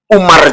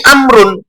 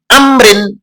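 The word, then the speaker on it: عمرو: Padahal namanya bukan Umar, tapi Amrun, Amrin. Nah, untuk membedakan nama Umar yang konotasinya adalah Sayyidina Umar, maka untuk selain Sayyidina Umar, supaya dibacanya Amrun atau Amrin, ditambahkan wawu setelah ro. Makanya di sini an ibni Amrin, tadi Ibnu Amr, bukan Ibnu Umar, Ibnu Amr.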